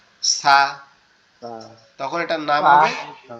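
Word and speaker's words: ثاء: এখন আবার আমরা যদি খেয়াল করি যে সা এর উচ্চারণের স্থানটা আবার আলাদা। সা এর, সা যে হরফটা আছে এটার উচ্চারণের স্থান হচ্ছে আমাদের জিহ্বার আগা, এটা সামনের দুই দাঁতের আগার সাথে লাগবে, সামনের দুই দাঁতের আগার সাথে লাগবে, লেগে হালকা নরম আওয়াজ হবে সা সা সা সা সা, এভাবে।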